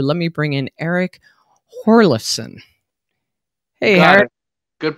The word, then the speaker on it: Hjorleifson: without further ado let me bring in eric horlison hey good pronunciation hey i want to know like how